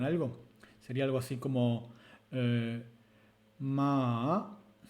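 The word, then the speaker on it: 麻: Si nosotros vamos con el patrón azul y pronunciamos ma con un tono ascendente, que podría ser ma, vamos a estar diciendo la palabra cáñamo.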